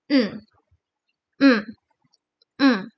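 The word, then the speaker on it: ん: And you have to pronounce it as mm, mm, mm.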